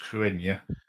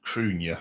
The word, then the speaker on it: Cruithne: This one, and it's spelled Cruithne, but I think it's pronounced Cruenya, which I actually wrote